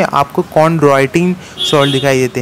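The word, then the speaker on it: chondroitin: ठीक है, CHON कॉन्ड्रोइटिन, ड्रॉय Android आप बोलते हैं ना, ड्रॉय DROI कॉन्ड्रॉय, कॉन्ड्रॉय।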